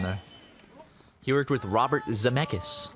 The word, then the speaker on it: Zemeckis: monster house on there he worked with Robert Zemeckis it's how you say it Robert Zemeckis yeah yeah he did he directed Forrest Gump